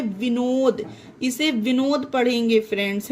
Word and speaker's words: Vinod: अब एग्जाम्पल देखिए, VINOD, इसमें डी आया, ये किसी भी पर्सन का नाम है, विनोद, इसे विनोद पढ़ेंगे फ्रेंड्स, है ना।